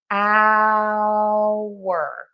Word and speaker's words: hour: These are pronounced the same and it is with the hour. Hour. So, we're saying ow and then wer.